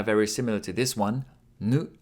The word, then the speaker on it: ぬ: Three strokes One, two, three ぬ is pronounced like /nu/ in ‘noodle’ This kana looks like